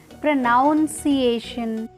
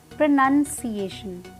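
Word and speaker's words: pronunciation: आपको क्या करना है, दो टुकड़ों में वो काट दीजिए इसको, वर्ड को, प्रोनाउंसिएशन। सो repeat after me, प्रोनाउंसिएशन। प्रोनाउंसिएशन, जो वर्ड है ना नो, उस पर आपको जोर डालना है, स्ट्रेस डालना है।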